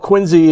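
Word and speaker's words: Quincy: We have a a special call sign that I have uh for the Quinsey radio club KW1 NZE. That's how we pronounce Quinsey.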